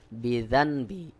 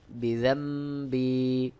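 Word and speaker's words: بذنبي: পরে বা আসলে উক্ত নুন সাকিন বা তানবিনকে বাদ দিয়ে মিম দ্বারা বদল করে পড়তে হয় যেমন বিজাম্ম এখানে রয়েছে বিজানবি সহি উচ্চারণ হবে বিজাম্বি আবু উলাকা বিনিয়ামাতিকা আলাইয়া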